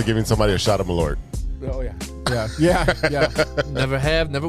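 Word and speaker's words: Malört: It's Malort.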